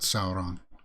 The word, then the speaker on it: Sauron: multiplying evergreen necromancer sauron oh i like the way she pronounced that she kind of rolled her r oh and i missed